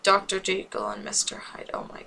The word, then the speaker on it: Jekyll: It's supposed to be Jekyll because it's like hide and seek.